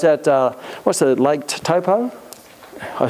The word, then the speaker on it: Taupo: me i was at uh what's the lake taupo i said i was the first time i've